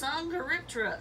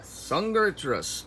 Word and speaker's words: Dsungaripterus: It's Dsungaripterus. Dsungaripterus, okay, which the is nice. The D is silent.